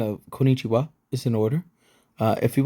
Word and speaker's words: こんにちは: over your excellent pronunciation, be sure to honor the doubled consonant here. Listen to the example below to make sure you hear the difference between the correct pronunciation on the right and the incorrect pronunciation on the left.